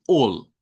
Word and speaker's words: all: par de la L, cuando la A está a la par de la L, suena con una O corta. Por ejemplo, si usted va a decir todo de algo, sabemos que se escribe así, pero usted debe pronunciarlo con una O corta y decir all, no al, es all, that's all, ¿ok?